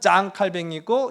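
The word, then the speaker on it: 장 칼뱅: 확신하세요 프랑스니까 자 맞아요이 프랑스식 발음으로는 짱 칼뱅이고 영어식 발음으로는 존 칼빈이라고 이야기합니다 이게 혼동이 돼서 두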